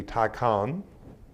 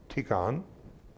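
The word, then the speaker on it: tikun: it teaches is the tikkhan t-i-k-u-n now that could be Tai Khan if you want to pronounce it or tikon is common with Eastern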